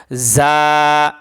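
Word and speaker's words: ظ: জিহ্বার আগা সামনের উপরে 2 দাঁতের আগার সঙ্গে লাগাইয়া জ।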